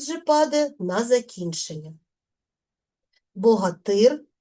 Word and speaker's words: Богатир: Богатир богатиря. В називному відмінку наголос падає на суфікс Ир. В родовому відмінку наголос падає на закінчення. Тобто наголос змінює своє місце.